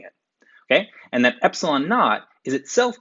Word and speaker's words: naught: equal to one over four pi times epsilon naught this is a greek letter epsilon subscript zero pronounces not so i would say epsilon not and by